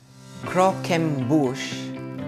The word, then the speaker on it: Croquembouche: Croquembouche is how you pronounce it.